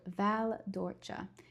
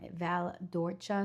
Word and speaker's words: Val d'Orcia: The province is Siena and then the exact area is called Val d'Orcia. Not Val d'Orcia, not Val d'Orci. Um Val d'Orcia. So, again the c is pronounced like a ch.